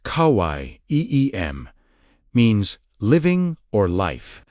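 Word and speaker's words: חיים: Hayim, pronounced Kawai, Eem, means living or life.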